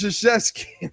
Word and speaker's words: Krzyzewski: It's Krzyzewski, like Krzyzewski.